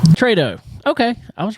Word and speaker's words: Tretow: Tretow. Tretow.